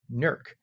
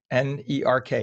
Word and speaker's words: Newark: Uh and as Mike said, 66 degrees in Newark, or as the people there call it, Nerk. Nerk, n e r k, Nerk.